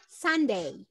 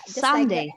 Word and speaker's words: sundae: bridge beverage sandy shake sunday sunday oh yes sunday yeah like the day sunday same pronunciation sunday everything is new